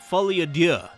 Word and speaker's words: Folie à Deux: It's called Joker Folie à Deux.